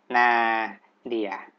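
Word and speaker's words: nadir: ว่า เป็น อีก นะ นา เดียร์ ไม่ ใช่ อ่าน แหน่ เด้อ นะ นี่ คือ อ่าน ว่า นา นา เดียร์ นะ ครับ จะ มี ใคร จะ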